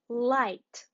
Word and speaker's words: light: night light very nice we pronounce it as I again and let's read